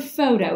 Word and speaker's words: photo: photo means light and let's look at the word photo it's got the pH in it that says and it's a two syllable word both syllables are open so the vowel is long so toh I'm sure